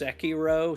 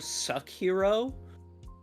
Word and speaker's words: Sekiro: But then they announced the nominees for, like, Game of the Year, and she pronounced Sekiro Suck-Hero.